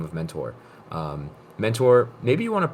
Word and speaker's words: Mentor: first name is that you pronounce it exactly as you would expect mentor and my last name